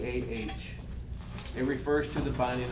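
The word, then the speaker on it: Akedah: have this thing and I don't know if I'm going to pronounce it right but I want to say it's AA it's a k e d a it's known as The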